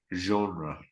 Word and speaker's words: genre: And the most probably the difficult one, the French sounding one, genre.